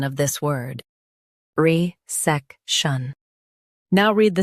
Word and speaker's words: resection: Both US and UK have the same pronunciation of this word, RESECTION. Now read the syllables shown on the screen naturally. Re, sec, shun, RESECTION. Stress SEK and keep R soft.